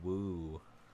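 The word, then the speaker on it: Wu: in europe last month i believe it's pronounced woo joseph um and they said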